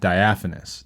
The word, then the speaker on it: diaphanous: fun word to say it don't be shy diaphanous diaphanous diaphanous it's a good word it's spelled di a pH a n o us